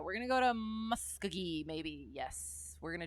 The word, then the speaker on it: Muskogee: Okay, soft G.